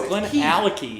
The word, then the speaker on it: Glenallachie: We drank the Glenallachie, which, please tell us if we are saying that right. Glenallachie. I think We it's that's it's right. Alahi. We know. No, it's Glenallachie. They really pronounce the Yeah, key.